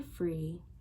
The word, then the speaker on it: Phri: in their ear, and it's called Free, like, but it's spelled PHRI.